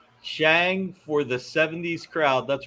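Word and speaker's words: Shang-Chi: go tomato tamara ironically the character that simulu who plays shanghai played on kim's convenience pronounced it shang oh really okay he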